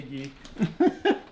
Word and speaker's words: ghee: She's talking about the ghee because she can't say ghee. She says guy instead.